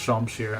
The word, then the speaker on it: Shamshir: Like, the scimitar, not the scimitar, the Shamshir was in FE8, but actually I think it is properly pronounced Shamshir.